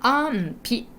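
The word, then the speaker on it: 安否: 安否確認、これも大事なんですけど、読み方安否です。ピひじゃなくてピね。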